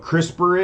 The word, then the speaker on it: CRISPR: talk about this other thing you know what crispr is a crispr crispers now let me spell it okay it's an acronym for something it's